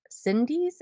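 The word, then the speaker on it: Syndee's: sydney's s-y-n-d-e-e apostrophe s sydney cindy's yeah i think that's how you say it they're craft dolls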